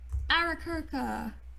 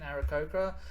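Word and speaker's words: Aarakocra: grace what do you reckon uh macy um arakurka uh yeah no that's that's that's the correct pronunciation arakoka um mark what do you reckon my first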